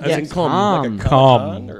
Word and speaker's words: Gamescom: I've never been to Gamescom. Isn't that weird? I'm mispronouncing it too. It's all like con. Com. Oh, okay.